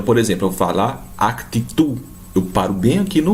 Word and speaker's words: actitud: Esse D não é pronunciado. Então, por exemplo, eu vou falar actitud.